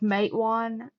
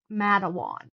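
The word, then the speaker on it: Matewan: me insane and like mate one, she said Madawan, canala was like No.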